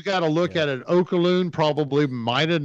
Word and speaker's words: Oluokun: Because Oluokun. Aluakun? Aluakun. More Hawaiian. Right. I got to go Hawaiian. So no, it's African.